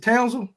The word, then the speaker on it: Kendon Townsel: Is it Townsel?